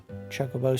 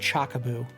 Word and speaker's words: Chocobo: when I was younger I always thought it was pronounced chaboo why I don't know probably because c h o is pronounced choco when you say chocolate so why would it become choco and I I'll